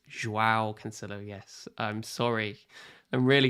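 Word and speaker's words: João Cancelo: earlier yes i'm sorry i pronounced it howe cancelo it's joao cancello yes i'm sorry i'm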